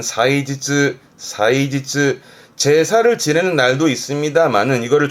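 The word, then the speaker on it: 祭日: 발음은 사이지즈.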